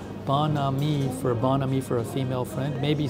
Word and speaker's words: bon ami: Oh, Barla V says Beau and me pronounced bon ami for a female friend.